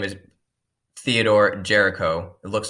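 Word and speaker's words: Géricault: messed up here but his name is Theodore Jericho it looks like garol but it's pronounced Jericho the raft of the Medusa is a painting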